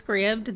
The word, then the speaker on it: Scribd: that said Scribd that's why I know it's pronounced Scribd I thought this was kind of cute cool